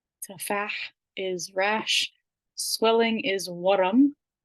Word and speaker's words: ورم: Swelling is ورم. ورم, you sort of roll your R's if you have that ability.